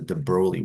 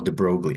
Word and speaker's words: de Broglie: we calculate is known as the de broi wavelength or de brogi however you want to pronounce it so let's take a